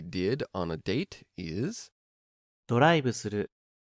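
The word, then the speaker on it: ドライブする: ドライブする、 There is no V sound in Japanese, so it's changed to a B.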